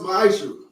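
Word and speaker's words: מעשר: Means 10th in Hebrew, and it's pronounced ma'asher.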